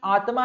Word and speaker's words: आत्मा: यूज कर लेते हैं आत्मा आत्मा आत्मा हालांकि अंग्रेजी में इसकी स्पेलिंग कैसी लिखा है आत्मानम एटीएम एन पर पढ़ते कैसे इसको आत्मा ठीक है तो आत्मा